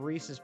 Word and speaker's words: Reese's: But unless it's someone's name, it doesn't make sense because Reese's rhymes with pieces, not Reese's.